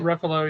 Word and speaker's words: Ruffalo: Ruffalo, yeah.